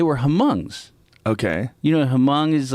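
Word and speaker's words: Hmong: hongs okay you know hamong is like this if you saw Grand Torino that movie with Clint Eastwood I think the H is silent I think called yeah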